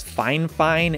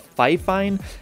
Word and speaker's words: FIFINE: fine fine instead of fifeine and the reason is because fine fine actually reached out to me one time and told me that the correct pronunciation is fine fine and not fi fine so that's what i'm